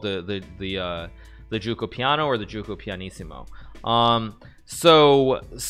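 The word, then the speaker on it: Giuoco Pianissimo: Since there are a lot of chess fans, I will say it pronounced correctly, and there probably are also a lot of Italians. This, of course, is the Gioco pianissimo.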